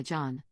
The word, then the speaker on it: Jon: made him very uncomfortable Jon then said that he goes by Jon not Yan Max began arguing that